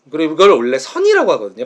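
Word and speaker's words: Zen: 앤 그래 그걸 올래 선이라고 하거든요 발음은 선에 선우 리그 불교에서 선인데 파이썬의 선이라고 하는 파이썬의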